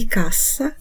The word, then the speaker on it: cassa: епойвай аказа Отже домовилися Каза і касса це різні речі вимовляємо їх чітко звертаємо увагу на подвоєні літери І до наступних випусків